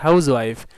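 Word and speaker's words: housewife: তাহলে এখানে আমরা হাউস ওয়াইফ, এখানে এই এইচটা সাইলেন্ট থাকে না, হাউস ওয়াইফ আমরা বলি না, হাউস ওয়াইফই বলি। এই এইচটা সাইলেন্ট না থাকার কারণে এখানে এই হবে, এ হাউস ওয়াইফ।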